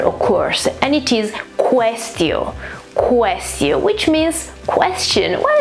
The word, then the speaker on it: quaestio: These two letters here, A and E, together when they're next to each other in Latin are pronounced E, so it's quaestio.